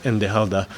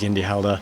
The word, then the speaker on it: Yndi Halda: is enjoy Eternal Bliss it included the original nor which is this word indala which uh was at the time mispronounced by us as yala and so that's what we named the band and actually we didn't